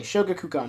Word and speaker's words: Shogakukan: I always forget how to pronounce the name. Okay, Shogakukan, yeah.